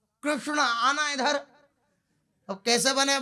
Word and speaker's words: कृष्ण: सबसे पहले नाम गर्गाचार्य जी ने रखा कृष्ण, जो सही उच्चारण है कृष्ण का, तो कृष्णो णो, तो कृष्णो, तो पूरी जीव टेढ़ी हो जाए।